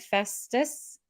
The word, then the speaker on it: Festus: Festus?